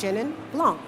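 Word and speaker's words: Chenin Blanc: to pronounce it correctly but I would say shinan Blanc is the one for me that I'm often times having to say it's shinnan Blanc right cuz people like Shand Dawn exactly we're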